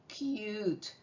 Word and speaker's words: cute: Hop, hope, cut, cute.